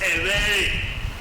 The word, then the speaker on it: Everi: Then we have the V in Everi. So that word is pronounced Everi, which is not usually shortened to ebe because of the consonant elision process there.